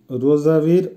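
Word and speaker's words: розовый: রোজাভি, রোজাভির অর্থ হবে গোলাপি, উচ্চারণ হবে রোজাভি।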